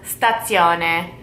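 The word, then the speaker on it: stazione: really the train station is mainly known as stats Yona stats Yona you can say the station lot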